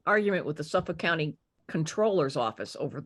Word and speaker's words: comptroller: the state controller and everybody in Maryland government pronounces it comptroller because that's the way it's spelled but the word is controller which the way it